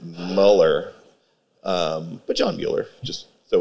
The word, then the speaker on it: Mueller: So I got a job at this guy's restaurant named John Mueller, or as he pronounced it, Muller.